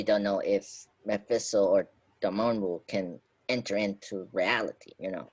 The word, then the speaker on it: Dormammu: bad guy is gonna be Mephisto or or Darmo yeah Dormammu. I Mm-hmm. can't I can't say his name. His name is Dormammu.